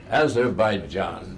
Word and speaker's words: Azerbaijan: Soon, Azerbaijan, how do you pronounce it? All those places that end in stan. Azerbaijan, that's right.